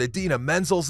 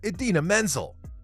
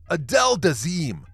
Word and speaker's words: Idina Menzel: supposed to present the celebrated actor and singer Idina Menzel. But disaster struck when he opened his mouth. Even with a cue card on hand, John Travolta literally annihilated her name's pronunciation, calling her Adele Dazeem.